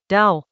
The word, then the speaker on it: Dao: Chapter Twenty-Seven of the Dao De Jing — Dao, pronounced like "dow" in the word "now" — asks what genuine skill actually looks like.